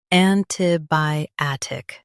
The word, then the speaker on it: antibiotic: bi ot ic antibiotic Now, let's focus on British pronunciation of this word. an ti bi otic Now, read the syllables of British pronunciation shown on the screen naturally. an ti bi otic an ti bi otic an ti bi otic an ti bi otic Stress bi and keep tic light.